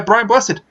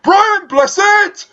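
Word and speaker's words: Brian Blessed: be played by yeah Brian busted no you said his name wrong you got a year so I he was whispers be played by Brian blizzard thank you but he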